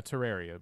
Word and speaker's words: Terraria: playing terraria oh my have i been pronouncing it wrong all of this time terraria oh yeah terraria that's correct it's terrible is